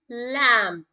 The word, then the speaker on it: lamb: laptop laces shoelaces ladybug lamb here B is silent generally when the B comes after M that would be silent lunch box lunch box